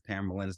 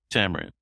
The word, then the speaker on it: Tamerlan: Tamarin. Tam- Tamarin? Okay. Tamerlan.